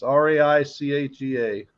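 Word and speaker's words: Reichea: It's Raichea. E-A. Okay, not I-A. Yeah. see, that's why I don't spell it.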